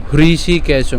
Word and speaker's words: হৃষিকেশং: তাহলে দিয়মি পান্ডব ঋষিকেশং হৃষিকেশং এই উচ্চারণটা অনেকেরই করতে অসুবিধা হয় তো এটা উচ্চারণ করার ক্ষেত্রে আমি যেটা বলবো সেটা হচ্ছে আপনারা ইংলিশ এইচ আর আই এটাকে উচ্চারণ করেন হ্যাঁ তাইলে হৃষি এভাবে